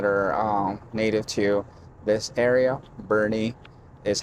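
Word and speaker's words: Boerne: Bernie is how we pronounce it.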